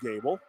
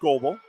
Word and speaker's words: Gable: Gable got Leah Gable and Libby Gable not Goble that's why they put pronunciations on my sheet Mike yes sha with